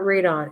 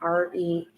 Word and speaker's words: rotenone: It says, unless I'm not pronouncing right, and it says churning out seeds containing the poison retinone. It's not radon. It's retinone. Rotenone.